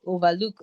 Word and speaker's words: Overlook: the founder of Overlook, which is actually pronounced as Overlook. Like, it's from the word, why did you overlook that?